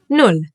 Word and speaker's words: null: null A double consonant like here, the double L, will mean that the word will get pronounced a little bit faster. Like here in null, for example, or der Ball, or essen. And watch the U. It will always be pronounced like oo. Like in put or boot.